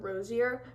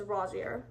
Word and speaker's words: Rosier: yeah next is Evan rossia I used to pronounce the name Rosier because I was a little slow and I should have known by watching the movie but it's Rosier and um he has mentioned once in the